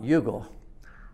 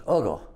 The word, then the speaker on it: UGA: It's not Yugal, it's UGA, pronounced with muggle.